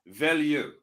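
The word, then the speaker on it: Veilleux: Christian Velox, I think that's how you say his last name. He's in there using the wrinkle. Come on. Villieu. Froton here. Let me give you the French-Canadian pronunciation. Villieu.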